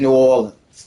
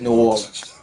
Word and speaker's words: New Orleans: It is New Orleans. What are you talking about? It is New Orleans.